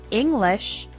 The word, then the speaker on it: English: have stress for example the word English has the stress on the first syllable ing the word improve has